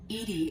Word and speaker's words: EDI: are you late Edie Edie is the phonetic pronunciation of EDI that is an acronym